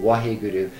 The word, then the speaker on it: Waheguru: But it's recommended 4 repetitions of Wahe, Wahe, Waheguru. In a certain sense, you want to overpronounce those words. Like when you say the Wah, it's like water. When you say Guru, smile a little bit.